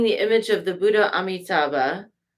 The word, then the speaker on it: Amitabha: And she's got peacock feathers in her crown, adorned with a magnificent peacock feather crown containing the image of the Buddha Amitabha, Amidewa, sometimes pronounced, which is right here.